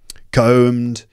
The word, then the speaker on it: comb: and neck was groomed to match groomed meaning combed and fashioned and tied in a certain way